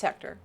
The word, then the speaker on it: Hector: Well, Mrs. Hector, your name rhymes with director.